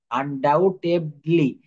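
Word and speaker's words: undoubtedly: কিন্তু বলে থাকি আনডাউটেডলি এখানে বিটি কিন্তু সাইলেন্ট থাকবে দেখেন আনডাউটেডলি এখানে বি আছে কিন্তু বিটি হচ্ছে সাইলেন্ট লেটার আমরা বলি না সন্দেহ ভাবে এটা প্রমাণিত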